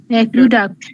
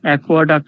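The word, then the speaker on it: aqueduct: অনটু 24 এর আগে যেটা ম্যাম 24 অনটু দা, এটা উচ্চারণ কি? অ্যাকুইডাক্ট। শিশুয়েট, অ্যাকোয়াডাক্ট, শিশুয়েট, অ্যাকোয়াডাক্ট হবে না ম্যাম।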